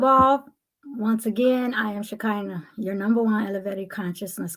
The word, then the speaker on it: Shekinah: pronunciation of your name shakina just like you you've heard shakina Glory it means in Hebrew one who holds the vessel of the feminine divine God's Essence on Earth shakana shakina yes okay so ladies